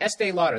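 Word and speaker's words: Estée Lauder: pick estee lauder i just said it right estee lauder there it is promote breast cancer awareness by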